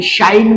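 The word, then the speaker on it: shine: त्याच्यानंतर पुढच जे एक्झाम्पल आहे शाई आणि शाईन मध्ये शेवटच जे लेटर आहे इ हे आपणाला सायलेंट होताना दिसत आहे त्याच्यानंतर टाईप टाईप या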